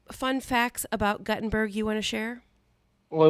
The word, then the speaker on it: Guttenberg: and we were uh named after the inventor of the printing press, but it's pronounced Guttenberg.